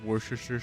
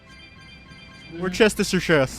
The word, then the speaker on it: Worcestershire: And, like, she would literally basically yell at students who would intentionally say it wrong? So I did that to her all the fucking time. We're Chestershire. We're Chestershire. Warcaster Shiner. I always called it wash your sister sauce.